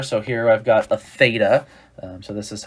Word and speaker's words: theta: So here I've got a theta. So this is how you say this. That's a theta.